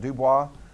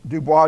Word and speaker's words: Dubois: named eugene i would i would think that spell pronounced dubois that's how i'm going to say it anyway in the dutch uh